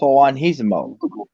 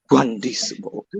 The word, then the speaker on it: Juandissimo: Poof has purple irises, so that's why there's a theory about Juan Hisimo. Juan. Shut up. Yeah. Shut up. That's a mispronunciation on my part. Juandissimo.